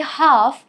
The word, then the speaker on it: half: For example, why do we say half without pronouncing the letter L?